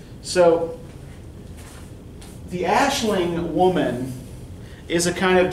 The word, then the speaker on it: Aisling: Who comes out of a 17th and 18th century poetic tradition called Aisling. A-I-S-L-I-N-G. Spelled Aisling, pronounced Aisling.